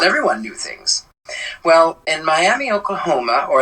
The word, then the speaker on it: Miami: knew things well in Miami Oklahoma or as they like to say there may I I kid you not they call it Miama it's spelled Miami but